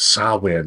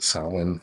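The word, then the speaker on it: Samhain: uh they call it sawin it's spelled the Sam ha but sawin I guess that's how it's pronounced s yeah and I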